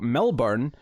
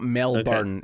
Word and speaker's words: Milburn: So the film's directors Devereaux Milburn. I mean, it's not That's just in. No, it's spelled different. It's not Melbourne. Okay. It's Melbourne. It's Milburn.